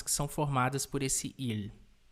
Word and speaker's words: 일: Em coreano, a gente escreve ele assim e a gente o pronuncia como il.